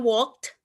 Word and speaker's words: walked: I'm sorry walk it Ini bacanya walked Eh pakai T jadi ini sebenarnya Bacanya